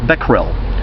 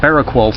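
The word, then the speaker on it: Becquerel: about that but it's b ec qu e ar e l BEC rel so that girl yeah that's correct but I've heard it pronounced barrack walls so many times I'm sorry but as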